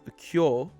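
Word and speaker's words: 今日: Next up, similar to before, we have today, pronounced as kyo. The reading for this word is a complete exception, though the word itself is incredibly common and useful.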